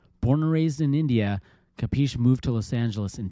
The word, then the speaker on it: Kapeesh: I pronounce it as Kapeesh, and when people see the spelling, I have a double E in my name, and sometimes people stress that, and then it becomes Kapeesh.